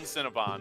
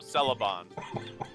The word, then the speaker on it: Celeban: Akin Cinnabon, no, Celeban.